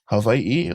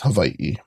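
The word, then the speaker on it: Hawaiʻi: And you can, you know, people say it like with a V. Havi or people even say Hawaii. Either or works. And even my mom, she goes Havi. So, it's you there's many different pronunciations and I'm not saying it which one is right or wrong, but the way I would say it is Hawaii.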